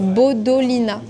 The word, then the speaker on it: Bodolina: C'est Bodolina. B O D O L I N A comme ça se prononce.